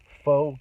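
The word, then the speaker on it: phở: So a lot of Vietnamese, I think it's pronounced pho, but it's Pho, pho.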